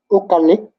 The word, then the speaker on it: Ukalik: Ukalik. you're going to need to spell that one. U-K-A-L-I-K. Ukalik. U-K-A-L-I-K, Ukalik. Ukalik. The U sounds like an O for some reason. I don't know why.